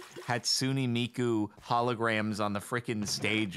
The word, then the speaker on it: Hatsune Miku: Sorry, I pronounced Hatsune Miku wrong. It's Hatsune Miku.